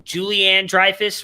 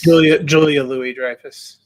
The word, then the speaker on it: Julia Louis-Dreyfus: we thought maybe and i always say her name wrong julianne dreyfus right is that correct julia louis-dreyfus julie louise we thought